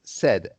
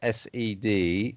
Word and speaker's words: said: said it's not said said it's pronounced as though it's sed even though it's written